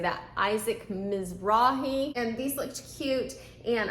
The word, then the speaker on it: Isaac Mizrahi: Isaac Mizrahi, and these looked cute, and I was finding a lot of swimsuits.